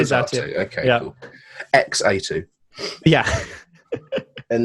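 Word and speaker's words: Xatu: It's Zatu. So you go Natu. I say Zatu.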